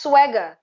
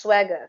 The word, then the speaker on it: Sserwanga: it's pronounced swagger. Yeah, It looks like Sserwanga, but it's actually pronounced swagger.